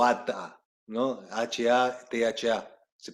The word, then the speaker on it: Hatha: H-A-T-H-A. Se pronuncia Hatha, pero muchos le dicen Hatha, ¿no?